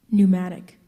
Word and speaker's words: pneumatic: by Victor that's a tricky word sometimes the EU sometimes that silent P at the beginning virgule could you please